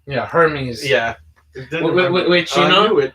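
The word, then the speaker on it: Hermès: Hermes. Yeah. And it has an apostrophe over the E. Yeah. And there's like 2 silent letters, so it's pretty fancy.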